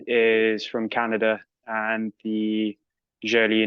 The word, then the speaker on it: Joly: It's the correct pronunciation is Joly because Oh, it's Joly.